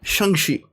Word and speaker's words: Shang-Chi: So we're going to review Shang-Chi. Sorry, Shang-Chi. That's actually the proper way to pronounce it.